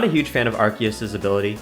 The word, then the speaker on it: Arceus: Aquatic 4, and when you make that swap, Arceus goes, oh, I'm no longer a Fossil, and now you have Aquatic 5 synergy, which doesn't do anything over Aquatic 4.